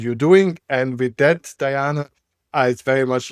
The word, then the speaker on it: Diana: the name, you know, my pronunciation is more of like Eastern European, that's who I am. So, it's Diana, which is, you know, the goddess of hunting. But, of course, in more like English speak it's Diana, which is, you know, Princess Diana and the warrior princess as well.